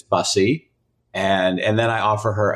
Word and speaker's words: Busse: I'm like, it's Bussy.